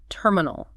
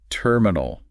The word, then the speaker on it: terminal: let's start with terminal the stress is on the first syllable terminal it's easy to misplace the stress on the second syllable terminal got it how about